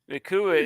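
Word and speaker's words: Nacua: How you pronounce his name? Nakua? Nakua.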